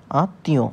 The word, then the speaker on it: আত্মীয়: মত অর্থাৎ অন্তস্থ ওকারের মত আত আত তি আতিয় উচ্চারণ বানান প্রমিতি অনুযায়ী এই উচ্চারণটা আমরা করে থাকি